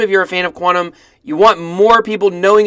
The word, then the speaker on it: QTUM: is a hundred million Quantum's so as you can see the name is cutie um it's also the ticker cutie um however it is pronounced quantum as you could probably